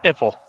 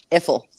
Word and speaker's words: Eiffel: is pronounced Iffle. No, it's not. Eiffel.